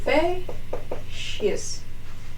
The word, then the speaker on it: facies: Now, as I told you, the flat surface is called facies, and you spell it like this. Facies.